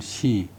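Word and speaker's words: 使: 그다음에 3월에 266년 3월에 오나라에서 사신을 보내서 진나라로 가서 조문하고 제사를 올렸다. 오시자 정충 오나라 사신할 때는 발음을 시, 하행할 때는 발음을 사.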